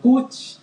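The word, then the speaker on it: cwtch: spelled as c wt c h but it's pronounced as as pooch or cooch it is a hug but more than a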